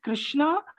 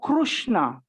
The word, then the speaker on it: Krishna: No, so if you look at my face, r, it is actually in Sanskrit we pronounce r within the mouth. We don't shape the change of your lips. We will not say ru.